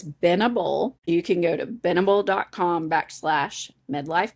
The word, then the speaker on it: Benable: There is no D in it. It's Binnable.